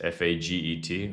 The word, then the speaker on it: Faget: m a x space f a g e t. I was like, that's a pretty funny name. Um It wasn't pronounced like as you think. I It's like it was pronounced Faget or something like that, but it's just a funny name.